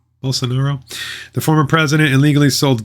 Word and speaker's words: Bolsonaro: Brazilian authorities are investigating whether Javier Bolsonaro, how do you pronounce his name? Bolsonaro.